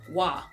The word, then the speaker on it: Wah: Wah. And since we are in that post-college time, I'm gonna ask that everyone calls me Wah, because I cannot abide the sound of my name pronounced wrong.